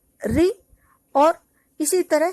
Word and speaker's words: ऋ: और अब री का उच्चारण इस तरह से होता है री, और इसी तरह श